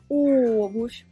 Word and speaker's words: обувь: Et обувь, l'accent tonique sur la première voyelle «o», обувь.